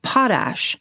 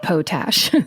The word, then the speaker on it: potash: Oh, and then it says, "Also note, Karen, it's pronounced potash, not potash."